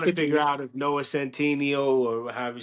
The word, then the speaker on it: Noah Centineo: out if Noah Centineo or however you say his name, Noah Centineo is the right pick for Ken.